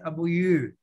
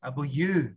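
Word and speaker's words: aboyeur: Okay, but you pronounce it abuyu. Pronounce abuyu. Abuyu.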